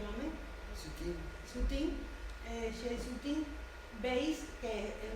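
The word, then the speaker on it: Soutine: Ponemos este ejemplo del que no tengo poema, pero este bodegón de Shea Sutin, ¿cómo se pronuncia, Mame? Sutin, Shea Sutin, veis que es un bodegón expresionista,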